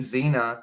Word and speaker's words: Xena: For example, the name Xena is said of a Z, but the X is silent.